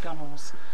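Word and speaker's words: gunwale: under all the gunels gun Wheels is the proper name it's pronounced gunels and this gives a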